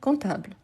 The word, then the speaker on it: comptable: verbe c'est comptter donc n'oubliez pas qu'il a le P mais on ne les prononce pas donc un comptable mais pour écrire il faut toujours écrire avec le P un comptable OK parfait